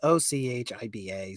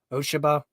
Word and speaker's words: Ochiba: I keep saying it wrong, but it's Ochiba. So, Oshiba. Ochiba? I think they say Ochiba, if I hear correctly.